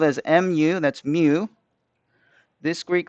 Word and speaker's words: mu: how to read them okay this greek letter is spelled as m u that's mu this greek letter right here is